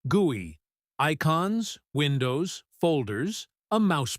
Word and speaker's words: GUI: That's pronounced gooey.